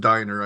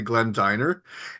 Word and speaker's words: Dynner: I just want to say, my name is actually pronounced Diner. I should have told you beforehand. So it's actually Glenn Dynner.